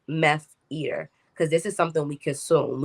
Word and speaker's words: MeFeater: fashion is that addicting let's pronounce it like meth eater because this is something